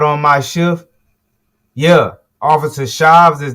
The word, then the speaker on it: Shives: Officer Shives. Shives? Yes, sir. How you spell it?